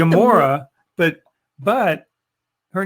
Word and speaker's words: Gamora: No, it's I like Gamora, but But her name, when I saw her name the first time, I thought it was Gamera, which is the name